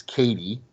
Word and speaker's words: Cady: Lindsay Lohan's character whose name is Katie however I it's spelled c a Dy and that's the one of the running jokes in the movie as everyone pronounces It Caddy which I'm sure I would do the same thing because that's how that's spelled uh but they